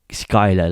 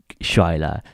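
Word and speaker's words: Schuyler: ah what a fool pronouncing shiler like shiler I mean Skyla pronouncing Skyla like Shila why hasn't anyone noticed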